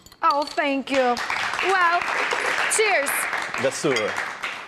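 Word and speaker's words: Gëzuar: Gazuar. How do you say? Gazuar.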